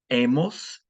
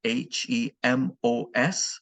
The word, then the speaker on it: hemos: There will be an H in all the conjugations, but of course the H is silent in Spanish.